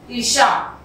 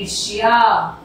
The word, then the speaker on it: ईर्ष्या: ईर्षा, ईर्षा का सही उच्चारण होता है ईर्ष्या।